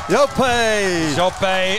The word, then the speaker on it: Jope: His name is spelt J-O-P-E. So we would have called him Jop. But when I had a chat to my man, Manawa Thompson yesterday. He's a Fijian himself. He said that is Jope, and then his surname is Raqa.